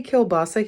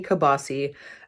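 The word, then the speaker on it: kielbasa: and that is Kil basa we don't say Kil basa here we say kabasi I grew up saying kabasi and again when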